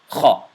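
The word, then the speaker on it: خ: This is another letter that is pronounced from your throat, but the sound comes from the middle part of your throat, right above your chest, just like the ha does.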